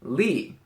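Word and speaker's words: 力: 17 we have this character it means strength pronounced Lee this is probably one of the most commonly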